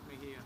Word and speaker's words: Mejia: Mejia.